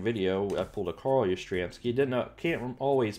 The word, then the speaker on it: Yastrzemski: I think in that same video, I pulled a Carl Yastrzemski. Can't always pronounce his name. Some days are better than others. And, I believe it's pronounced Yastrzemski.